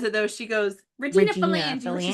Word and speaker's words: Regina: Regina. Really, it means Queen Regina. Yes, I know, that's why it's called that. Yes, Queen. After yes, Queen Regina. Victoria. And it rhymes with vagina, which is fucking hilarious.